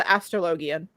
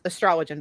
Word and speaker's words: Astrologian: Though this time we have the Astrologian, which is Astrologian, by the way. I just pronounced it stupid.